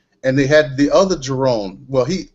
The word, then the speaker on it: Jerone: they had the other Jerone. Well, my name is pronounced with an N, Jerone.